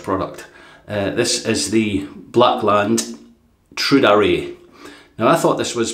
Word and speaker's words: Tradere: Yeah, Jay tells me it's pronounced Tradere. Tradere.